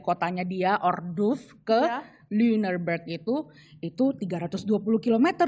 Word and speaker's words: Lüneburg: Yang di titik 2 itu bacanya kayak gitu. Ayo ikutan. Susah. Ya, Lüneburg.